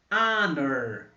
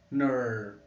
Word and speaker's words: honor: Honor. Olha aquela representação que nós usamos também no A. Vai falar Clark, né? Tem som de A. Honor. O schwa de novo aparecendo aqui, representando a letra O.